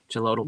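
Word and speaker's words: Xolotl: On Yeah, because Uh, but the X seems to make the ch sound. for Yeah, I think sure. it's sound because I've visited Mexico and visited some place that starts with an X, pronounced like a CH.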